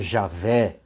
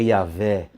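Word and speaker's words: Yahweh: e tem religião aí igrejas né protestantes que falam Javé mas é yaveh foi São Jerônimo que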